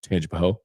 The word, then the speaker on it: Tangipahoa: Baton Rouge area, including Tangipahoa. Gotta say it really fast so you don't know if you're saying Tangipahoa or Tangipahoa. Because the people from Tangipahoa Parish, if you pronounce the A, they get upset.